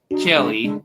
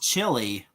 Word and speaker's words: Chile: Jonathan, Canada, Kenzo, Kenya, Diego, Chile. Wow. It's pronounced Chile. Chile? I thought it's pronounced chili.